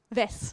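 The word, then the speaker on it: vesce: Vès, d'accord, ok. Parce qu'en anglais, c'est vetch, et en fait, je ne suis pas cherché à vérifier la prononciation.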